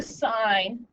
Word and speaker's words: sine: up the wall is if you say sin cos tan its sine cosine tangent and come over here